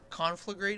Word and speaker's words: Conflagrate: Conflagrate is how you pronounce that?